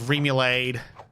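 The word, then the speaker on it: remoulade: Rambutan made me think of Remulade. That's what it was called. Google agreed with me. That's how you pronounce it.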